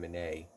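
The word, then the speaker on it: Minié: call them mini balls because the French fellow that made them pronounce his name Monet but it's easier to say mini balls that's how they look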